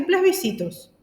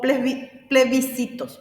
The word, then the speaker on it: plebiscitos: Nosotros la clase pasada ya vimos la diferencia entre elecciones y plesbicitos o plebiscitos, perdón, yo estoy pronunciando mal.